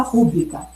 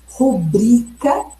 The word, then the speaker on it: rubrica: Então, se vocês observarem na gramática culta, na norma culta, como deve ser a pronúncia? A pronúncia considerada correta é rubrica, gratuito e Nobel.